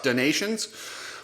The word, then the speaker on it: des Nations: I know it's Motocross donations but I like to say the yes so stop telling me